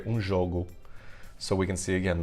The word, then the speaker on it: jogo: juego, and then in Portuguese I say un jogo.